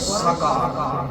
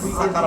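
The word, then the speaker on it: سقر: সূর্যের প্রচন্ড তাপ যেটা নাই ওইটা কি আরবিতে কি বলা হয় সাক কি সাকছেন অনেকে বলে সাকার সাকার অর্থ তো কফ আছে কেন সাকার হবে নাকি সাকার হবে না সাকর হবে সিন কফর আছে না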